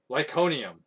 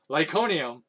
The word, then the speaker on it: Iconium: fled to god um how do you say that lyconium that's how you say it lyconium to the cities of